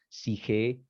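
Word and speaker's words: ψυχή: justamente, la palabra psique, se dice en griego psique, alma, psique, P-S-I-J-E, psique, así se escribe, después las escribo en otra parte, en otra diapositiva.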